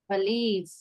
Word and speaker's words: police: Police. Not police. We say police. Many people will say police. Police. It is not police. It is police.